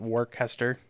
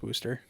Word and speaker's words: Worcester: and Massachusetts I was used to call it war Kester you know it's isn't it Worchester no it's Worcester its booster and smooster that's really how it's